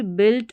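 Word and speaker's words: build: जैसे बिल्ड बिल्ड और guitar में यू आई है। यहां पर यूआई इसका इ करके उच्चारण हो रहा है।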